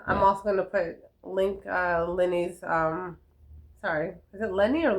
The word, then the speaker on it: Lennie: LENNY. IE. LIE ENNI. Yeah. Not Y. No. LIENNI. That's spelled very IE. different. Don't forget the E at the end. IE. Oh, Lennie like LENNIE. Yeah. Oh, okay, no Y. IE.